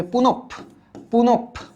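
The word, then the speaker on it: পুনঃপুন: তাইলে এটার উচ্চারণ হবে পুনপ। পুনপ। পুনপ পুন। পুন মানে বারবার।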